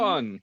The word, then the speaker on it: Teoman: Teoman, yep.